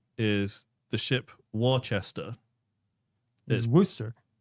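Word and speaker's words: Worcester: ironically gets me is the ship Wester is Worster it's pronounced Wester right no it's Worster it's but in in English like in England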